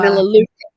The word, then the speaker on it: Melaleuca: and Melaleuca. I think it's pronounced like that. It's like the tea tree one. Uh, Melaleuca. Melaleuca. Mm. That's Melaleuca, thank you.